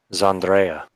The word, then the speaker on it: Zandrea: Zandrea. Andrea, but with the Z.